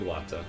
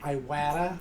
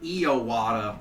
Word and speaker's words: Iwata: Like Iwata? Like I actually don't remember. You just call him like Iowata or Okay. something. You threw in an extra syllable.